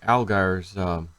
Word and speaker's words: Allgire: All right, so I want to talk a little more about Dick Allgire's or Allgire's how you actually pronounce it, not Al, it's Allgire.